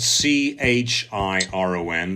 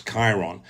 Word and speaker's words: Chiron: just google astrology Chiron which is belt c-h-i ro n those pronounce Chiron Chiron CH iro n